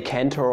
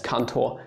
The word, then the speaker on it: Cantor: is up here and you shouldn't say cantor or something yeah that's basically all that is to his name just pronounce him as kanto and you are fine